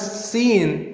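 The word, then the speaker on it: سين: The difference is when you pronounce seen, you make whistle sound, and when you pronounce swad, the method to pronounce swad is you have to round your lips like swad, swad.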